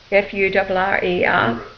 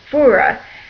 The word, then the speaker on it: Furer: of course Adam's uh surname is actually fur f u r e r his grandfather was a Swiss German now his name is pronounced fura however as a child anytime we went any